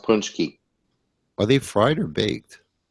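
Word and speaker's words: pączki: pki oh okay pki yeah P yeah they're pronounced punchki are they fried or baked they fried oh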